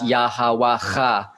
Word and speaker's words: Yahweh: Is Yahweh is the Proto-Hebrew pronunciation of that.